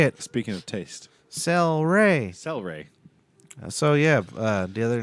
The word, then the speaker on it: Cel-Ray: know how to say it speaking of taste cel-ray celery so yep the other night mm-hmm sorry